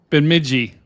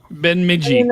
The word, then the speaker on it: Bemidji: Even the reflectivity right now over by that, I forgot how we said we were supposed to pronounce it. just say it. Bemidji. Bemidji.